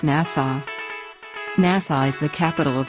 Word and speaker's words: Nassau: Nassau is pronounced Nassau Nassau is the capital of the Bahamas it